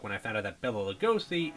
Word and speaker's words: Bela Lugosi: Almost as long as it took when I found out that Bela Lugosi is actually supposed to be pronounced as Bela Lugosi.